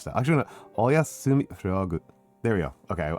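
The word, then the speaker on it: おやすみ: Um Sorry, I'm not willing I I I'm not willing to bend from my willing my my love of rolling R's to try to pronounce it Japanese style. Actually, Oyasumi frog.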